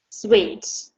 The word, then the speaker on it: suite: Suite. Good. So pay attention to the pronunciation again.